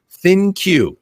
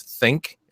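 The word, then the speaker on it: ThinQ: on the LG g7 thin queue is how you say that I was thinking it was think a funky way of saying think but I don't know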